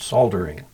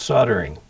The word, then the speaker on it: soldering: Oh, you're saying it the same way the British do it, soldering. Oh. In the U.S. it's soldering. Oh. So, but yeah, I had a guy in Britain try and get me to agree to pronounce the L in soldering.